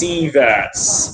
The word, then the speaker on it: sievert: You're mispronouncing the V as a W. Maybe you wrote it down wrong. It's sieverts. Yeah, sieverts.